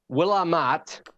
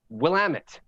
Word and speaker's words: Willamette: there yeah oregon yeah it's not willamat willamette shamawa shima yeah chamowa is